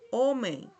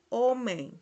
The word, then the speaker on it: homem: Que la pronunciamos en portugués así, homem, homem. Cuando está esta M, esta I, esta E con una M, se pronuncia como si tuviese una I antes de la M, homem.